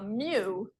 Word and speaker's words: mu: mean the population mean we use a a Mew which you pronounce or if you had to write it